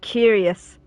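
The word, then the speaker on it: cuirass: the chest part of the armor oh it's pronounced curious oh no way yeah I've only ever read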